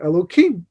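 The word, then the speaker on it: אלהים: One of those names that we're familiar with is the name Elokim, except it has a hey. We don't pronounce the hey as a kuf instead, because in deference to the holiness of God's name, Yud Kei Vav Kei, God's tetragrammaton name, we don't pronounce at all. Not today, because we're not holy enough.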